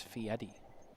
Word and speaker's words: Fieri: It's Fieri. Well, we can pronounce it however we want, because I'm not